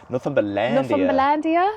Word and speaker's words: Northumberlandia: Northumberlandia. That's how you pronounce it.